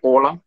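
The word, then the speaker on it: hola: So then, H-O-L-A is actually Ola. Ola. H is silent, तो O से start करेंगे.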